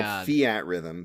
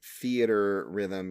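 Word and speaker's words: Theatrhythm: had a theater Rhythm which I always call Fiat Rhythm but apparently theater Rhythm because you pronounce the r like er and just say rhythm but I have it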